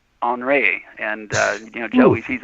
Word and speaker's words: Henri: we can help well the French pronounced Henri on ray and you know he's